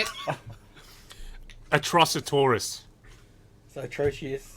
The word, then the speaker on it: Atrocitus: Atrocitoris. So atrocious. Atrocitus.